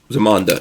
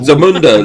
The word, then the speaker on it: Zamunda: earol Jones in zuma zamanda yes zamanda there you go zamanda was before wakanda Z Zamunda Lola says Lola says Zamunda over there get it right don't mispronounce the fictional African nation this is this is